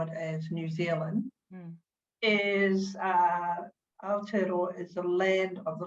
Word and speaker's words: Aotearoa: the Māori name for your land, which is Aotearoa, and I hope I am pronouncing that right. Yeah. I gave it a go this morning, and I'd love to know what the meaning of Aotearoa is and why it was called such.